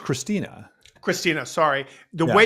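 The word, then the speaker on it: Kristina: well as um, uh, Katerina, is that the right way to say that, Katrina? No, I think it's just Christina.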